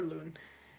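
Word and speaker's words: Loun: So, uh, that's spelled L O U N for Loon and it is your major moon and the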